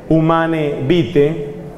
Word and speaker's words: Humanae Vitae: Como lo anunció proféticamente el Papa Pablo VI en 1968, en un documento que se llama Humanae Vitae, se escribe Humanae Vitae, está en latín, se pronuncia Humanae Vitae.